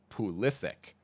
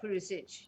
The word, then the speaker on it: Pulisic: soccer player in the entire world, okay, is Christian Pulisic. And that's how he pronounces his name, because he's American. Well, it's probably, Pulisic.